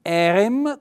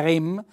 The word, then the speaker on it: erem: lui era noi eravamo noi erem con un bell'accento fonico sulla prima e mi raccomando che anche indica l'accento tonico non è REM noi erem voi eravate